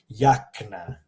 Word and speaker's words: jakna: Jakna. Notice in English it's jacket, like with a hard j, but in Croatian jakna. Imagine a Y was there if you're having trouble pronouncing the Croatian J.